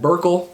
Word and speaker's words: Burkle: And batting 8th is Brad Burkle, pronounced like Urkel.